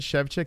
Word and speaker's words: Szewczyk: Szewczyk. Oh, yeah, that's probably how you say it, right? Szewczyk.